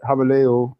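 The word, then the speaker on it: Gouweleeuw: Habaleo is how it's pronounced, and that is Dutch for the Golden Lion.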